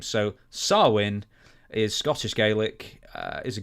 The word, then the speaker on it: Samhain: It's spelt Samhain, but it's Samhain. Yeah, I was looking. I said, how do you say this? It's Samhain.